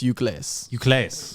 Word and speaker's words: Ucles: You know, I go, is it Ucles or is it useless or is it no? But it's apparently I don't know where the hell the names came from, but it's pronounced Ucles. Or if you want to get elegant, it's Ucles. Ucles. Okay, so a bit of French or a bit of Spanish.